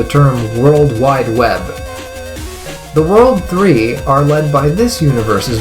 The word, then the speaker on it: WWW: Despite being spelled as 3 W's, it's supposed to be pronounced World 3, and I can't tell you why that's the name they chose to go with.